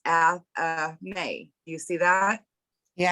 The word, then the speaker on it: athame: but it says before we go on, it's pronounced athame.